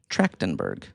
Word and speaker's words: Trachtenberg: Trachtenberg. How do you say it? Trachtenberg. Yeah. Tracton, like a As tractor. in like track race. Okay. Oh, yeah. Tractor. Tractin. Trachtenberg. Trachtenberg. Trachtenberg. There you go.